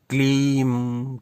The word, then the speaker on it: क्लीं: याद स्मरण रखिए, क्लींग यानी अंत में ग का उच्चारण नहीं करना, और क्लीम क्लीम क्लीम अंत में म का उच्चारण भी नहीं करना, केवल उस बिंदी का उच्चारण करना है।